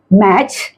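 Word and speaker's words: match: होगा यहां पर टी यहां पर मैच बैच कैच ये सभी में देख रहे हैं कि टी साइलेंट है है जाते यू की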